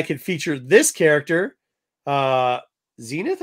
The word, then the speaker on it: Zenith: feature this character uh Zenith I guess is how you pronounce her name yeah like the old TV sets but yeah I